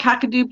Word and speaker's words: Kakadu: lillypilly yeah and then cacao plums i'm not pronouncing that right yeah what kind of plum it's called kakadu plums so kakadu plum is